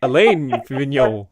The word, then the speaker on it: Alain Vignon: So the thing is, I just know that it rhymed with filet mignon. You know that fish, filet mignon. So then I was just like, okay, so That's how I remembered it because I knew it would rhyme with filet mignon, so I just say Alain Vignon, right?